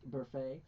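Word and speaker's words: Burfict: It's pronounced Burfay.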